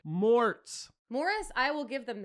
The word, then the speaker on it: Mort: Yeah, because I overpronounce Mort a lot of times trying to get them to understand what I'm saying. So I'll go like, Morts.